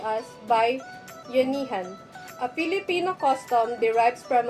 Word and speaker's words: bayanihan: The bayanihan, pronounced as bayanihan, a Filipino custom, derives from a Filipino word bayan, which means nation, town, or community.